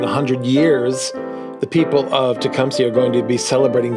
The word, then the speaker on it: Tecumseh: of them actually do know that how to pronounce tumpy and then I always like to explain why we are tumy and that we're named after the shaie Native